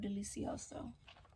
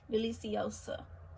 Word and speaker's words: Deliciosa: This is my Monstera Delicioso. Not Delicioso. I'm crying, Delicioso. Deliciosa. I think that's how you say it.